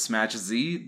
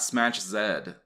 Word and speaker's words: Smach Z: of that I know the correct way to say it is smash Z not smash Zed thanks to the support